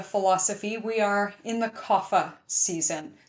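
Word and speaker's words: kapha: So right now according to yoga philosophy we are in the coffa season. Sometimes pronounced kafa whatever you like. Usually in yoga a sounds are an a kind of sound. So cafa yoga.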